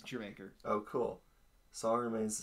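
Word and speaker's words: D'yer Mak'er: That's how it's pronounced. It's Jermaker.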